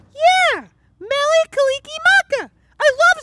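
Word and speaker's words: Mele Kalikimaka: ah man how do you say it nelly kalikimaka yeah mellie kalikimaka i love saying merry christmas in other languages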